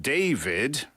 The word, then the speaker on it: d4vd: of the day here is d4vd pronounced David for some reason here with